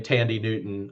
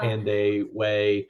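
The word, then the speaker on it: Thandiwe: T Tandy way her she used to pronounce her name Tandy Newton um is the person but but it's Tandy way is how it's pronounced I think now but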